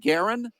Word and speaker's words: Garron: Uh, it is Jesse and now you pronounce it Garren. Yeah. All right. So, it's Jesse Garren.